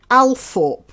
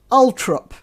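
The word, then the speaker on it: Althorp: of princess diana uh it's spelt alphorp a-l-t-h-o-r-p alphorb house and is pronounced by the family as ultra that separates the hoi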